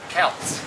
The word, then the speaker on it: Kautz: Yeah, how are we pronouncing her name? Kautz. Kautz, Melissa Kautz.